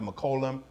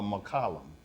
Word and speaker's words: McClung: He pronounced McCollum or McCollum. So either way is correct.